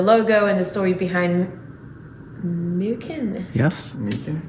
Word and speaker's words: Myken: and the story behind mukin yes you're the first foreigner to pronounce it correctly i think most people say mike and all that kind of stuff that's much that's the right one yeah well i think